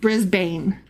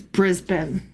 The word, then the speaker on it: Brisbane: And also, um the the city of of Brisbane, it's not pronounced Brisbane, even though that's how it's spelled. It's Brisbane.